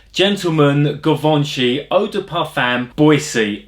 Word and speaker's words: Boisée: Kevon she odor puffin Boise or boys sigh I think is how they pronounce it it's got little accent on the e so I think it means you go up at the end you know it's a